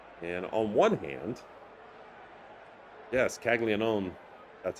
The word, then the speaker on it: Caglianone: And on one hand, yes, Caglianone, that's how you pronounce it, is hot, and he's been damaging multiple teams.